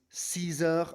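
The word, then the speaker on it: six heures: And again, you'll notice that X, just like with the number 2, on the number 6, the X is pronounced with a Z sound, a Z sort of sound.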